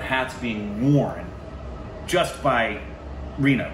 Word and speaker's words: Rima: And then, so, like, 15 different hats being worn just by Rima, right? Is that how you pronounce it?